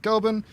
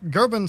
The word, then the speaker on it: Goeben: So a lot of the English people will pronounce it Goeben, but technically it's kind of like an umlaut, so it's Goeben, I think.